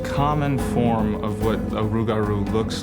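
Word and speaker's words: rougarou: or even a bird the lugaru or rugaru as the local Cajun pronounce it is not a peaceful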